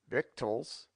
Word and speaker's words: victuals: as solless pronounce venison venson victuals victals wicked wicked womb womb wrath wroth the student will doubtless This marked many other deviations from our rule.